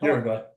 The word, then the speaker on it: Uruguay: Uruguay.